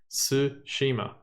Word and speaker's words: Tsushima: every single episode because I cannot pronounce it Tsushima just the T is silent that's all I have